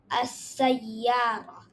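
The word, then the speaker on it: السيارة: So whenever there is hurfa shamsi, we don't pronounce the lam and we just mix the alif with the next letter and we say as-sayyara.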